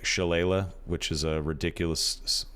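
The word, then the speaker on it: shillelagh: it uh sounds like shalayla which is a ridiculous it's this is an Irish word but it's pronounced shalayla we'll get to that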